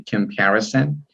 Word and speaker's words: comparison: I don't remember well, but you mispronounced it. Okay, comparison.